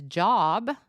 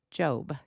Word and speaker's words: Job: and I know that it looks like his pronunciation is job but it's pronounced job j o b e uh now the meaning